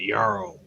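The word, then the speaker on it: jarl: duke duke's two pulpits i think they pronounce it yarrow it used to mean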